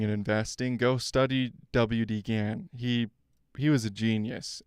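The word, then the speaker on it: Gann: And by the way, WD Gan, I guess it's technically Gan. I don't know why I'm saying Gan. His name is pronounced Gan as far as I as I know.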